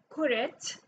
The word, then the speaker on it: كرة: So John's ball, kuret, you switch the words in adjective, kuret, you pronounce the ta, the hamarbuta as a ta, kuret, John.